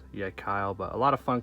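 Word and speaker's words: Yecheil: the yet Kyle pair some people yeh say yeah she'll or something like that but I believe is pronounced yet Kyle but a lot of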